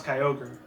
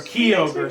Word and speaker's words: Kyogre: Now it's Kyogre. Or Kyogre, some people call it.